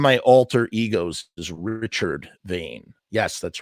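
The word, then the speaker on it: Vaine: One of my alter egos is Richard Vane. Yes, that's right. Richard Vane. Vane is spelled V-A-I-N-E.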